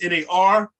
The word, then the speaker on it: nar: For example, if that was NAR, it wouldn't be pronounced na, it would be pronounced nar, right?